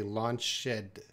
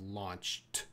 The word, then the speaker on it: launched: launch shed launch shed he wants to pronounce that Eed as Ed Ed has uh at the end as many uh it can have the D sound and it could have also the ed sound but he I think